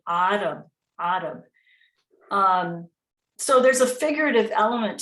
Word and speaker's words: Arab: Arab begins with the letter Ain, so it's really Arab.